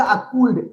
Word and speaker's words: could: हाँ, शैल, will, शुड, वुड, कुड, एल का उच्चारण नहीं होता है, यहाँ एल साइलेंट रहता है।